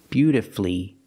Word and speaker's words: beautifully: l l y but the stress is on the first syllable in this case the U is silent Master F beautifully wonderfully we also practice